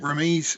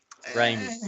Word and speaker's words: Raimi: Ramy's kind of. Raimi is how you pronounce it. Yeah. Rami. Just in case we ever interview him, it's Raimi.